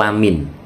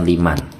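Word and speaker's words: لَمِنْ: hati-hati sering terjadi itu tulisannya itu Liman ya tapi khusus yang ada di surat 42 ayat 43 Ini yang betul Lamin bukan Liman nah ini bacaan asing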